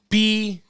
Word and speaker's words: Brett: Today, redemption is spelt B-R-E-T-T. It was Brett, right? Not Brent.